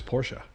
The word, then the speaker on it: Porsche: and everyone's probably going so to set the record straight is it is Porsche Porsche yeah okay so in